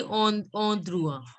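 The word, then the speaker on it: endroit: See, EN is pronounced as on. On. On. So it will be and OI, I told you it is pronounced as UA. So it will be on drua.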